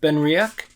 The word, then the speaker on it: Benriach: Today we have, I did look it up to make sure I was pronouncing it correctly, and it seems to be pronounced Benriach or something close to that.